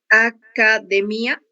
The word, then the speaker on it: academia: Você leu academia, né? O mi foi a sílaba mais forte que você pronunciou.